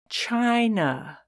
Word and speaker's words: China: like ice Frid day China how many syllables which syllable has stress China has two syllables the first syllable has stress I is the last letter in a syllable with stress it makes the I like ice sound China the letter Y